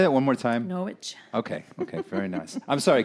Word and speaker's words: Norwich: So we had lived in Norwich, and then in now Norwich? Norwich. That's how you say it when you live there a while.